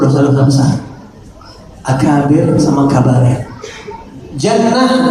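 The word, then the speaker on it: جَنَّة: Tapi dibacanya apa nih? Kalau jannah surga atau kebun, junnah pertahanan, perisai, benteng, jinnah jin atau gila.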